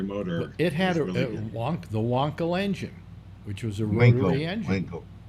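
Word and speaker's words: Wankel: it had won the wonl engine which was a engine w wonl I thought it was pronounced wankle wonl okay I owned one damn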